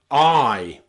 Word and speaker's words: eye: You'll also see this in a really common word, eye. Eye and eyes, okay? One eye, two eyes. Here, the letter E is pronounced I. It's the same sound when you say I am, I do, I am, okay?